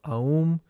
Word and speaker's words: Aum: These mantrams are aum chivatum A Aum is pronounced opening the mouth wide with the vowel A rounding it with the U and closing it with the M.